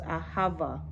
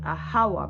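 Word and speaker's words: אהבה: Some people might pronounce it ahawa, because it's I heard that in the old in the ancient Hebrew language, in the original Hebrew language, there was no V, so the word would have been ahawa, A-H-A-W-A, right?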